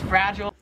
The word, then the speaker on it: fragile: Or it's fragile if you're American. Here in Australia, how they say it is it's fragile, like. Oh, fragile. I say that all the time. They say aisle, we say oh.